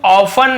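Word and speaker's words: often: Pappu ऑफ यानी हमेशा ऑफ्टन नहीं पढ़ेंगे टी सैलेंट होता है लेकिन लिखते जरूर है लेकिन इसे पढ़ते नहीं ऑफ मस पढ़ेंगे ऑफ्टन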